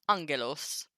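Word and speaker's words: ἄγγελος: So if you have a gamma gamma, it's an NG.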